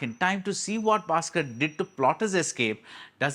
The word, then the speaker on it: Baskhar: is spelled in Lucky basard it is not b h a s k a r it is written to rhyme with lucky bastard and that's what the